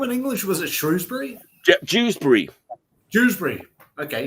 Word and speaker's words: Dewsbury: Dewsbury. Dewsbury. Okay. Rhymes with Shrewsbury. Literally the only town in England that rhymes with Shrewsbury is Dewsbury.